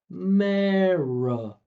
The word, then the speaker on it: America: Put them together. Don't stare at the word. Just listen. America, which is all connected from here. America. And then all you have to do is just put an uh in the beginning and you've nailed it, right?